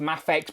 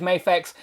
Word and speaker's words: Mafex: I am aware it's pronounced Mafex, but again, it's embedded in my brain as Mafex, so yeah, that's what I'll be calling it.